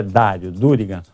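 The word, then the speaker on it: Dario Durigan: E uma dessas notícias, Rodrigo, é que o ministro da fazenda Daril Dário, Dário Durrigan, tem Daril e Dário, né? tem as duas pronúncias, é Dário Durrigan.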